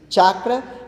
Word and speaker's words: chakra: são chamadas de chakra que se pronuncia corretamente chakra que em sânscrito quer